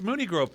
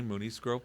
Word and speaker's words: Mooney Grove: The answer is nobody because it's Mooney Grove Park, but 8 out of 10 people do say Mooney's Grove Park. It's the vernacular. It's what is most commonly said.